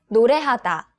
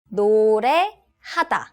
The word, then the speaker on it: 노래하다: It's 노래하다. 노래하다.